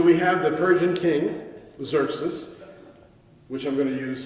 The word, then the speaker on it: Xerxes: name in Hebrew is Xerxes, which I also find ironic because Xerxes is spelled with 2 X's, but there's no X sounds whatsoever in his name, whatsoever.